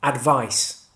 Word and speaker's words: advice: The noun is pronounced with an S sound at the end, advice, and the verb is pronounced with a Z sound at the end, advise.